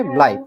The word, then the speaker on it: bleibt: এটা হচ্ছে bleibt, হ্যাঁ, এই যে এটার উচ্চারণ bleibt।